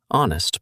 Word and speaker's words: honest: The word honest starts with a silent H. So, the first sound you actually hear is a vowel sound.